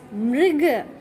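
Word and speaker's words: मृग: Okay, so first one is mrig.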